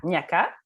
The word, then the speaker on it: Niaga: Prononcez le nom, là. Avec un K. Avec un K, Niaka. Donc, Niaka est une jeune